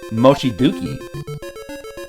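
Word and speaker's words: 望月: Oh, it's spelled Dookie, not Zuki. Mochiduki.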